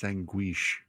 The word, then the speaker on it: sanguiche: No, it's not guiche. It's sanguiche.